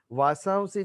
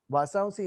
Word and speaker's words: वासांसि: वासांसि जीर्णानि यथा विहाय नवानि गृह्णाति नरो पराणि तथा शरीराणि विहाय जीर्णा अन्यानि संयाति नवानि देहि। वासांसि यानी वस्त्र, हम वासांसी कहते वो गलत है।